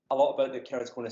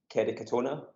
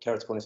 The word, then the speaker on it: keratoconus: and they all said not all most said kerry katona so i mean i had to google who